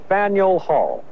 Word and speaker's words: Faneuil Hall: is spelled this way here in Boston it's pronounced Faneuil Hall just a few steps away is a psych